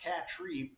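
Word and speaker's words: Catry: from c-a-t-r-y uh can't i assume it's pronounced cat tree uh but it's spelled sort of like cat try uh i guess you'll go either way on that so uh pat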